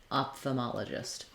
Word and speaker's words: ophthalmologist: So far in the top pronunciation we have off the, and then this letter O again says our ah sound, ma, off the ma. Then this letter O goes back to being a schwa sound, sounds like l. And finally letter G says the j or J sound, gist, ophthalmologist.